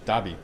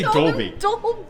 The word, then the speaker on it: Dobby: where's his soccer toby dobby i always say his name wrong i always say dolby it's the dolby theater